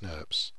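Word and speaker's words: snRNPs: The spliceosome is composed of five individual small nuclear ribonucleoproteins, pronounced SNRPs, which comprise both RNA and protein components.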